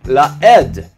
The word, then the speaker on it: לעד: But you might go back and reread it, this time with the pronunciation la'ed, which means as a witness.